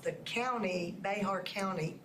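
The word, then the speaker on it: Bexar: They were hoaxes, but they didn't know that because the person pronounced Bernie correctly, and they pronounced the county, Behar County, correctly.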